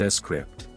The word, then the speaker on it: Scrypt: algorithm for transactions called Script pronounced s script this improved the speed